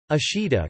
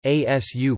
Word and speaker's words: 明日: More subtly, Ming Ri has three different readings, all meaning tomorrow. Ashida, casual; asu, polite; and mayanichi, formal.